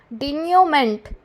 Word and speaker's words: denouement: डेन्यूमेंट, DENOUEMENT, डेन्यूमेंट।